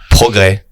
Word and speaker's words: progrès: Progrès. Oh, Progrès. see, you don't pronounce any of the letters. But there is an S at the end. Just don't say it.